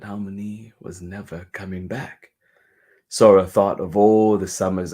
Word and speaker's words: Sora: was never coming back Sora thought of all the Summers ahead without her grandmother she remembered how Haron would say her name with a soft s and a gently rode ah she felt sad about